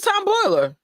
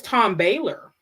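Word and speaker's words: Tom Bahler: Oh, it's Tom Baylor. I've been saying it wrong the whole time.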